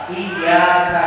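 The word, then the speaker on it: إياك: Iyyaka na'budu wa iyyaka nasta'in dibacanya tanpa tasydid, ya, yang harusnya hanya kepada mutlak ya Allah kami menyembah, dan hanya kepada mutlak ya Allah kami memohon pertolongan, tanpa tasydid.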